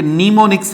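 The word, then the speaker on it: mnemonics: ये नीमोनिक्स है, इसकी प्रोनाउंसिएशन में एम साइलेंट हो जाएगा, आप नीमोनिक्स बोलेंगे, ठीक है, एम को आप यूज नहीं करेंगे।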